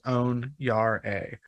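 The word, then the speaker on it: onyare: yard a o-n-i-a-r-e and the phonetic pronunciation they have next to it is own Yar a which is I guess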